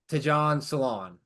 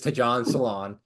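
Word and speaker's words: Tidjane Salaün: and suffering so sixth overall The Hornet draft ton salon and that is how he pronounce his name I did look it up before we started here it is ton salon and then in the second round they got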